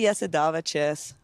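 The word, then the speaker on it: Jasudavicius: So, you know, for those of you that are pronouncing it wrong or ever have pronounced it wrong, this is for you. It's actually Yesidavicius, but so bro, you are wicked with that soundboard.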